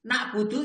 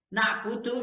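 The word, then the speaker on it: نَعْبُدُ: Allah kami menyembah kalau menurut ejaannya disempurnakan E Y D nakbudu iyaka yang benar na'budu iyaka waastaininu iyaka gitu bacanya pertanyaannya Kenapa dibalik lah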